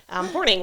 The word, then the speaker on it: Hornung: her last name, so Hornung, we're just going to go with that. Yep. Even though there's a U, it's Hornung, so Natalie Wilkie Hornung.